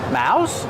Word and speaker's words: mouse: Mouse. Yep. It has the O U sound making ow like house.